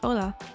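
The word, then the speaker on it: Hola: you would ever guess you don't have to pronounce the H okay so you were right Mike Ola Ola in crew says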